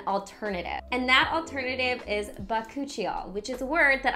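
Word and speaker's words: bakuchiol: to discuss an alternative and that alternative is bakuchio which is a word that i just figured out how to properly pronounce but cucciol is actually more friendly towards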